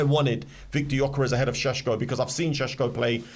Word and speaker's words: Šeško: It is Šeško. It's Šeško, that's how you Do pronounce you it.